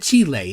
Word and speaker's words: Chile: Because I gotta say, if somebody in Chile, see, I'm saying it Chile instead of Chile, which is kind of the American way.